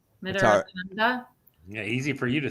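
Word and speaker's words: Mitarotonda: Mitaratanda.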